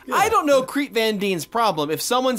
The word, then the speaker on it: Van Dien: Creep Van Dien, that's how you say it.